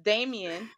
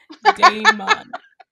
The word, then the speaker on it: Damon: Damien, his best friend. Did I still say it wrong? You said it right and then wrong. Damon.